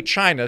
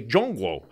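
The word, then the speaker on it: 中国: So don't say Prague, say Praha. Don't say China, say Zhongguo.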